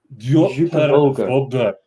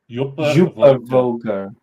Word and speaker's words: Djúpivogur: Djúpivogur. Djúpivogur. The D has a slight pronunciation for Jewel.